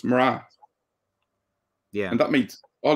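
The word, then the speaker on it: mná: irish in other words you pronounce that n as an r so it's mara yeah and that makes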